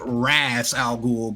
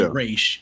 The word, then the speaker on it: Ra's al Ghul: They pronounced it Raz Al Ghul, but it was really Raish.